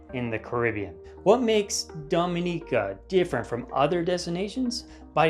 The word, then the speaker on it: Dominica: If you're wondering what sets Dominica's underwater landscape apart from the other Caribbean islands, then the answer lies 70,000 years in the past.